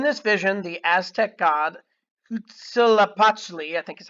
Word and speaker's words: Huitzilopochtli: In this vision, the Aztec god Huitzilopochtli, I think is how you say it, told